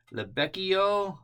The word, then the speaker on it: Libeccio: So this is the Caproni CA310 Libeccio or Libeccio. I kind of sampled and looked around and found there's two possible pronunciations for this.